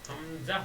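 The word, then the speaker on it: همزة: আরেক হচ্ছে হামজা সময় বলি সময় আলিফ আলিফ হামজা হামজাহ হামজাহ এই দুইটা এই দুইটা অক্ষরই তাড়াতাড়ি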